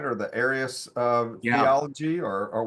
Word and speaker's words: Arius: Or the Arius Yeah. theology, or what's the right way to say that? Yeah, that's right. Arius is the man whose teaching